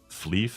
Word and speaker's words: Flyff: tatsächlich irgendwie gesagt also da wird's FeV ausgesprochen das wahrscheinlich die asiatische oder japanische Aussprache und wenn es so auf Deutsch um ist um Münst wär es eher so fliff ne genau aber ich